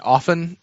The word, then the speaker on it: often: get I get I I try to get people to not pronounce the T and often and at the end